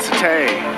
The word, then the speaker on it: Sate: It's like Satai, but Sate.